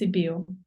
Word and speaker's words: Sibiu: Yes, it's Sibiu.